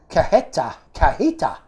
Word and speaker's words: cajeta: The small plastic bottle is cajeta, pronounced cajita. So the J is silent.